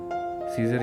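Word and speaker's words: scissors: third word है सीजर सीजर यानी कैंची और यहां भी देखें सी से पहले एस आ रहा है इसलिए सी भी है खामोश लफ तसवर किया जाएगा और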